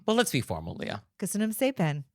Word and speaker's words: Köszönöm szépen: Köszönöm szépen.